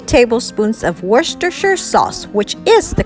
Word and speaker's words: Worcestershire: tablespoons of olive oil and 2 tablespoons of Worcestershire sauce which is the correct pronunciation did you know the sauce was actually